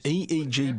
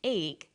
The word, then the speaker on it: EEG: or an acronym an EEG brain scan helps answer that say the swinburne researchers he says an EEG that's an abbreviation we don't pronounce it egg we say e e g e EEG stands for